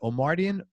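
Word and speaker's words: Omartian: How do you pronounce it? Omardian?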